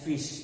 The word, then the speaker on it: ghoti: you if we if here g h is pronounced as phi i is always pronounced as e and then ti is pronounced as sha in some other words so g gothic and very well this dhoti can very well be pronounced as fish the way you pronounce